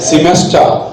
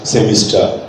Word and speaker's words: semester: schedule sched schedule SCH semester sem sem British semester semester American semester semer made Ginger semester semer nowhere in the world is the pronunciation seen like semister only exists in banglades